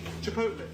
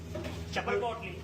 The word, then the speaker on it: chipotle: Chipot chipotle. You want chipotle sauce? How do you pronounce something? Chipotle. Chapot.